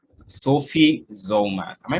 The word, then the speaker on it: Zollman: She goes by the name Sophie Zollman. Am I pronouncing that correctly, or am I wrong?